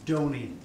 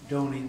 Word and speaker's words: Dony: It's Dony, as in Tony with a D, Dony. It's very difficult for a lot of Americans because they always think it's Dony.